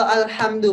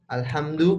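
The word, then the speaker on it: الحمد: puji hanya milik Allah nah ini kalau alhamdu pakai Hnya kecil tapi kalau kita Al hamdu pakai Hnya besar besar ya alhamdu pakai h besar ini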